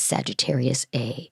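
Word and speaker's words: Sagittarius A*: Its name is Sagittarius A, pronounced A star, and it's our super massive black hole.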